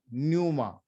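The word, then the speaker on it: πνεῦμα: और ग्रीक में बोलते हैं न्यूमा, पी साइलेंट, न्यूमा। और ये दोनों का जो मतलब है वो एक ही है।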